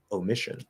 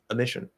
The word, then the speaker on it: omission: syllable which is correct fully formed fully enunciated version of the word we use o omission that was an omission however the much more common way to say the word it's not a particularly common word but um i would say that probably the more common way to say the word would be to reduce that o to ah a mission he made an omission